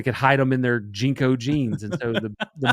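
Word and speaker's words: JNCO: Um, but if you're wondering what Jenko jeans are, it's spelled JNC O jeans.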